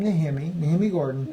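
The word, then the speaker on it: Nehemia Gordon: Gordon, and he pronounces his name Nehemi Gordon.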